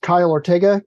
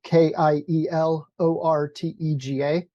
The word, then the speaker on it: Kiel Ortega: out your name and tell us how to pronounce it, and what would you like us to call you? Sure. My name is Kiel Ortega, Kiel Ortega.